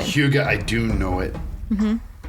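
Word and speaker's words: hygge: you're familiar with it Huga and it's not it's not spelled anything the way you pronounced it I had to look up the pronunciation Huga I do know it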